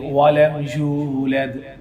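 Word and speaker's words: وَلَمْ يُولَدْ: For example lump यलिद वलम यूलद, वलम यूलद, समझिए वलम यूलद। लोग बहुत कॉमन ये गलती करते हैं, लम यलिद वलम यूलद, या वो यू वाव मद्दा पढ़ा है, यूलद, ठीक है।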